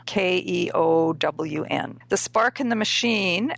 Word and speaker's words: Keown: I believe the last name is pronounced Keown, Keown.